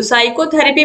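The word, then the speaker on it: psychotherapy: हो जाएगा क्वेश्चन 55 है 20 लेटर इस साइलेंट इन डी वर्ल्ड साइकोथेरेपी तो साइकोथेरेपी में जो पी है ये गायब है साइको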